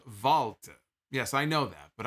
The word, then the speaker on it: Walter: like it sucked turtle head says walter is pronounced valtte yes i know that but i i sound